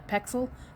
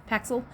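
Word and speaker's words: Pexels: some stuff from uh pxel paxel it's p ex I actually say p ax so I say it wrong uh but the first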